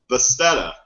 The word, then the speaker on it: Bethesda: I say it Bethesda.